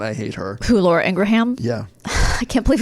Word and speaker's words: Ingraham: Extra syllable, ham, whatever. I thought it was just pronounced Laura Ingraham. Yeah, no, it's Laura Ingraham. Like Birmingham.